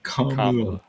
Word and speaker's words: Kamala: Kamala. Pronounced Yeah, Kamala.